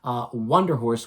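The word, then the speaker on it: Wunderhorse: Wonder Horse with a U-W-U-N, and then Der Horse, as you would think is spelled, Wonder Horse.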